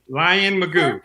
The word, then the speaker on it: Lynn Mayugba: Lion Magoo. Perfect. Thanks for Finally having me someone on. can pronounce my name.